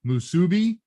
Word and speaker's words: musubi: And which one is the hard syllable? Musubi, musubi, musubi.